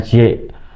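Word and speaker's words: 血: Terkait dengan darah atau su cie bacanya cie darah atau jie.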